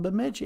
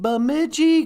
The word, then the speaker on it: Bemidji: from Laporte well yeah but that's south of Bemidji hey somebody's here no you think that's bad